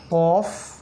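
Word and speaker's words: ق: মত উপরে দুইটা ফোঁটা কফ আলজিবের গোড়া থেকে উচ্চারণ করতে হয় কফ কফ জবর ক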